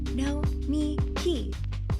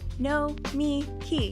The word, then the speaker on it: Nomiki: Nomiki. Nomiki.